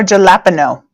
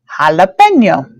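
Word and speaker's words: jalapeño: in Spanish correctly so the J sounds like H so that means my J here is going to make a ha sound so and my a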